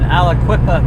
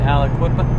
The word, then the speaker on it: Aliquippa: Reading an article today about a truck driver that got a $7,349 ticket in Aliquippa, Pennsylvania. I think it's how you say it, Aliquippa.